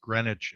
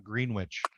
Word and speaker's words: Greenwich: but I've always wondered why it's pronounced Greenwich and not greenwitch I mean you guys